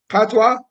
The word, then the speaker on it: patois: was involved in, where you guys were talking patois, right?